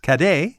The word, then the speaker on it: cadet: Yeah, so when she returned to Scotland, she took the practice with her, and in French, the word cadet is pronounced cadet.